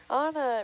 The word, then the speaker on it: Anna: I'm like, Anna, it rhymes with sauna.